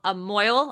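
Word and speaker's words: mohel: have a a mo Mo I think it's pron how it's pronounced m o h e l but it's pronounced Mo um have a mo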